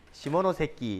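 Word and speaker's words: 시모노세키: 뭐냐면 들어봤어요 시모노 새끼 발음 조심하세요 시모노세끼 이렇게 안하겠어요 일본 애들 자이 시모노세끼 조약으로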